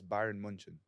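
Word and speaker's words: Bayern München: the b area no but it's in German it's Byron munchin I believe that don't was funny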